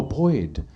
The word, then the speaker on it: Boyd: Oh, Boyd. I have never pronounced a D so hard in my life when I was talking to him.